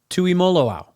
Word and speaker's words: Tuimoloau: It is TJ Tuimoloau. Just like it sounds, really, if you just sound it out.